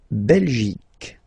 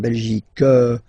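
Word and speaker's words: Belgique: French okay okay La belic okay remember Q uh here you will get only the sound C okay belic belic so it's not belgic not at all okay because it's only the belic okay Denmark so same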